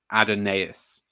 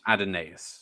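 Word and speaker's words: Adonais: source to settle this it's it's and they're pronouncing it adenaeus well there it is adenase so I forgive the excesses of an old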